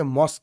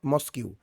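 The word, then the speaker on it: mosque: যে মসজিদের ইংরেজি হচ্ছে মস্ক ইটস নট মসকিউ এমএস কিউ ইউ হ্যা কিন্তু আমি ওটা লিখেছি স্যার উচ্চারণটা বলব স্যার হ্যাঁ কিন্তু উচ্চারণটা আমরা বলব মাস্ক ওকে জি জি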